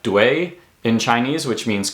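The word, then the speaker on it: 对: UI is pronounced as if it were written U-E-I. So it's ue, right? So you can take a word like dui in Chinese, which means correct or right, right?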